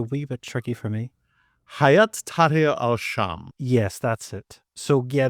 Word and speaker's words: Hayat Tahrir al-Sham: What way do you pronounce HTS? It's a wee bit tricky for me. Hayat Tahrir al-Sham.